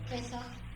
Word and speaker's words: Pesach: Pesach.